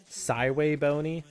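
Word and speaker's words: SVBony: with a 3D printed uh bracket, an SV bony. By the way, did you know that apparently The company name for SV Bony is actually supposed to be pronounced like Siway Bony.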